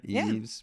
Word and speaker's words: Eaves: Eaves. Like eavesdropping.